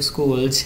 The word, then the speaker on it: Scholz: আচ্ছা এখানে স্কুলস থেকে দেখো স্কুলস জেড জেডটাকে অনেক সময় জির মতো প্রোনাউন্সিয়েশন করে কিন্তু আমরা এটাকে মনে রাখতে পারি।